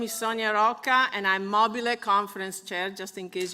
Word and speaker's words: MOBILLE: MOBILLE. That's the way it's pronounced.